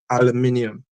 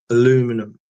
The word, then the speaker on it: aluminium: like you know like we say aluminium because it's spelled aluminium but Americans say aluminum and they miss out the eye I've even seen the